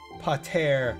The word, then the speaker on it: Pater: with the point of Pater Mater sounds better than Potter Mater. It should be Pater Mater. It's Latin.